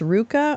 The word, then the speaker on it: RVCA: involvement with the movement oh it's Ruka I always called it RVCA well there you go I had no idea if you've ever tossed